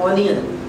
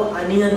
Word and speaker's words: onion: ऑनियन। नहीं, ऑनियन नहीं होता, वो अनियन होता है।